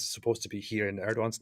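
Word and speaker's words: Erdoğan: connection to how it sounds it's uh reject erdogan see I mean notice if you're transliterating something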